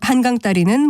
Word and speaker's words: 한강다리: 이것 역시 한강다리라고 된 소리로 하는 것이 올바른 발음입니다.